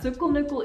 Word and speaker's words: cykelnyckel: I know that cykelnyckel is bicycle key.